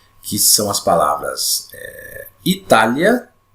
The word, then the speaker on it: Itália: Essa vogal I, ela é pronunciada com menos intensidade. E a vogal A é pronunciada com mais intensidade. Então, vou fazer a pronúncia aqui para você identificar como é que funciona aqui. Ó. Palavra Itália e palavra História. Ó. Itália, História. Tá vendo? Esse A vai lá para o alto.